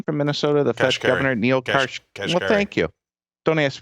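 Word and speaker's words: Neel Kashkari: The Fed governor, Neil Kashkari. Well, thank you. Don't ask me to spell it, but I know what he said.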